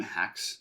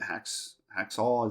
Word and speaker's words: Haxall: What's really cool about this cemetery is it's actually from 1847, and Joshua Fry and William Hacks, I believe Haxall is how you say it.